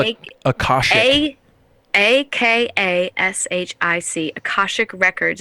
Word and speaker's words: akashic: remember it producers take note how do you spell it akash a a k a s h i c akashic records it's where you hire an akashic